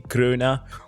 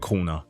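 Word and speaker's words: kroner: that's like 140 50 krona what I pronounced that like was I Swedish 140 kuna like for example in the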